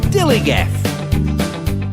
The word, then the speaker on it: DILLIGAF: Dilligaff. That's spelled D-I-L-L-I-G-A-F, Dilligaff.